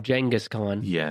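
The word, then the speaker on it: Genghis Khan: block and I know some people including Dan Carlin will call him jangus con but I say it I'm going with genas because it sounds better to me well there you know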